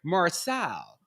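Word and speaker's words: Marseille: living in the area near marcel i like that i like my french pronunciation a port city in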